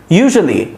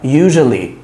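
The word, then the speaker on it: usually: ইউজুয়ালি, very important, এটার প্রোনাউন্সিয়েশনটা আমার সাথে একটু বলেন। ইউ যা, যা এটা বাংলায় নাই, এজন্য ছাত্রদের বলতে সমস্যা হয়। ইউ যা, ইউজুয়ালি, ইউজুয়ালি, ইউজুয়ালি, ইউজুয়ালি, ওকে, ইউজুয়ালি, সাধারণত।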